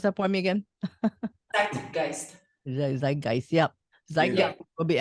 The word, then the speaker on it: Zeitgeist: And this album, the latest one, in Clash with the Zeitgeist, pronounce that for me again. Zeitgeist.